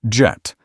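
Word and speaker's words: Djet: He named it Jet adding a silent D so French people would pronounce it jet just like the English word.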